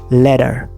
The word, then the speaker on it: letter: The first one, it's pronounced as letter. Letter. Letters of the alphabet. Letters of the alphabet. There is a flap T sound right here, meaning smooth D sound አለው እዚህ ጋር.